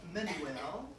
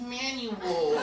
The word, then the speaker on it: Manuel: pronounce my name properly instead of Manuel they call me Manuel who is he oh he's manual I'm not manual I'm not handmade and